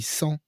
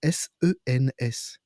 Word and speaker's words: sens: On dit sans dessus-dessous et sans, eh bien, pour nous, c'est SANS. En fait, c'est SENS.